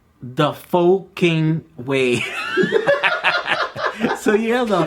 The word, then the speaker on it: pho: The Pho King Way. So yeah, the Pho King Way. And it's not pho, it's pho. Yeah, so you're correctly. At least I think that's how the Vietnamese pronounce it or whatever.